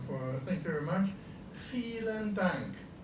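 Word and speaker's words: vielen Dank: Feeling dunk. Feel and dunk. Yeah, you see the V is pronounced like an F. Fel and dunk.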